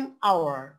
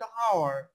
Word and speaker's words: hour: an hour, an hour দেখেন উচ্চারণটা কিন্তু ও থেকে আসতেছে, আমরা কিন্তু এইচ এর উচ্চারণ করতেছি না। যদি এইচ এর উচ্চারণ হতো তাহলে কিন্তু হয়ে যেত হাওয়ার। তাহলে আমরা উচ্চারণটা করতেছি কোত্থেকে? ও থেকে। an hour begins with a vowel sound।